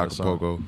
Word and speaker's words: Acapulco: I think I said it wrong too. It's always like hard for me when I sing along. Yeah, Acapulco.